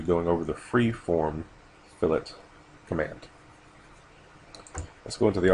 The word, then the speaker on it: fillet: today we're going to go over another NBS fillet command and I've been corrected on the correct pronunciation of fillet and not filet like I was saying anyway under the uh